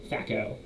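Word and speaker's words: THAC0: adjust ours that's at all we note our Sacco that's how the this thac is t-h-a-c-0 is pronounced facco this number is added to any ranged or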